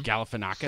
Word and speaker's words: Galifianakis: Galifianakis. So, that's exactly yeah. how it's pronounced, actually.